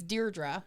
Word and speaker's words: Deirdre: to say my name it's Deirdre and I've like come up with a little mnemonic like dear draw how are you yep